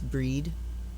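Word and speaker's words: Brigid: we have uh read when you see it spelled like that b-r-i-g-i-d it's breed radiance passion birth and soul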